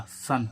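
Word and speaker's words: sun: में क्या आ रहा है य तो इसका उच्चारण भी क्या होगा आ यानी कि क्या ध्वनि आ रही है आ सन सन मीस क्या होता है सूरज ऐसे इसमें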